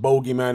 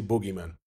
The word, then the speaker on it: bogeyman: The English pronunciation is bogeyman. Since I started the video talking about pronunciation and language, well, in England, it's pronounced bogeyman. In America, they say boogeyman.